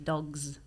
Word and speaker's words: dogs: Quindi i plurali spesso vanno pronunciati con S o Z a seconda, o le terze persone o in generale. Per fine esempio parola. dici cats, però dici dogs.